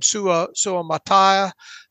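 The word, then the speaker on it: Suamataia: dandre sweat Kingsley SU how do you pronounce kingsley's last name sua Su Mattia uh and inside linebacker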